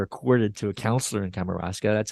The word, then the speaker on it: Kamouraska: Am I pronouncing that right? Kamouraska.